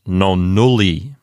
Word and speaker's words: nonnulli: Does the penult contain a long vowel? Yes, it contains a long U. And not only that, it's a closed syllable. So it's definitely a long syllable, and so it will get the accent. So this word sounds like nonnulli.